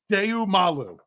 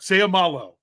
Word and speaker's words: Seumalo: Okay, it's very simple. Every vowel gets a syllable. So you have to pronounce every vowel with its own syllable. Seumalu. Or sorry, I said u instead of o. Seumalo.